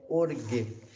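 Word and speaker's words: ὀργή: Que corresponde, então, ao nosso G, mas a pronúncia é orgue.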